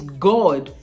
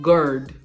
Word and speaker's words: God: God, it's God. It's not gird.